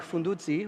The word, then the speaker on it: Fundudzi: That is inspired by Lake Fundudzi, which is one of the continent's most precious ecological treasures, and he works a lot with artisans.